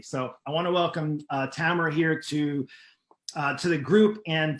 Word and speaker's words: Tamora: And I just wanted to first introduce Tamora, and I'm going to pronounce her name right because we have about 3 or 4 different Tammys and Tamoras and Tamoras.